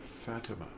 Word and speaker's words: Fatima: named after one of Muhammad's daughters Fatima or Fatima as the Catholics like to pronounce it and it was named